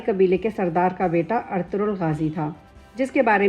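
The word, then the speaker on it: Ertuğrul: کی بہت اہمیت ہے۔ اس نام کا صحیح تلفظ ارطغرل ہے۔ ارطغرل ترکی زبان کا لفظ ہے۔ ترکی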